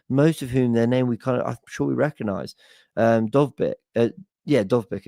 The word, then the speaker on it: Dovbyk: Yeah, Dovbyk is how you pronounce it.